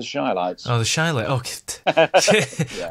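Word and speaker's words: Chi-Lites: The Chilites have popped into my head for some reason. You've got the name wrong for a start. It's the Shilites.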